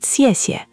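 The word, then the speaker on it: 谢谢: The rising first tone, the soft X, the falling then light xièxie.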